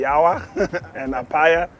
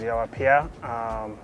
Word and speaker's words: Yaw Appiah: Artist name, Yaw Appiah, which a lot of people call me Yawa and Appiah, but the right pronunciation is Yaw Appiah.